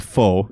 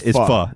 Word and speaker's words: pho: I've been told that with pho is the pronunciation of that. People Correct. call pho, and they are wrong. It's pho. It's pho.